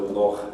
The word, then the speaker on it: loch: The velar fricative ch you only need to know about because it's in proper names and foreign words, so loch and Harlech, which is the name of a Welsh town.